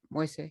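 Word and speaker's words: Moïse: going along with what, how do you pronounce his last name? Moise? How do you, the president who was just recently assassinated? Moise? Yeah, I think Moise. you're correct. Moise.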